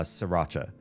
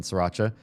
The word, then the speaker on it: Sriracha: I know some people see the R after the first S in Sriracha and they want to say Sriracha or something like that. I don't correct you. You want to pronounce that R, go ahead. It's not how the place that invented the sauce pronounces it.